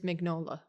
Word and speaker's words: Mignola: From what I can tell from the pronunciation guide, by the way, it is Mignola.